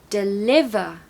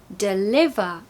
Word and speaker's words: deliver: so lemon lemon deliver we've got a schwa sound in the first syllable because it's the second syllable that is loud not the first so deliver deliver and as you can